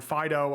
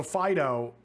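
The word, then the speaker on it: Fidough: for you here also fido dog but it also looks like bread and it's spelt f-i-d-o-u-g-h like dough like bread dough it's great i love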